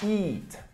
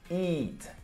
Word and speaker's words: eat: Eat. Eat. Começa com E, A e você pronuncia com som de I, beleza?